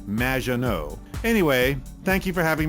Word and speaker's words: Мажино: However, you have mispronounced my name. which rhymes with badge, as in duh, and no as in more than you. Mажино.